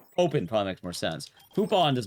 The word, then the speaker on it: Poupon: Is that how you pronounce that? Poupon's a cursed name, by the way. Open probably makes more sense. Poupon does not sound like good food.